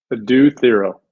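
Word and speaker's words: Adou Thiero: it at Kentucky and ask you about Adu uh thyro is that how I did I mispronounce his name there Adu Theo Adu Theo I'm the master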